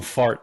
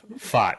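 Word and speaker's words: Pfaadt: Paddock I thought yeah I call him fart because it sounds like but it's fought yeah PA a p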